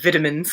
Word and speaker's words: vitamins: I almost said vitamins, because that's how Neil says it in the audiobook, and I find that one of the more adorable British pronunciations. Vitamins. Like McVitie's.